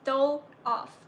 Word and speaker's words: Doloff: It's pronounced dole off.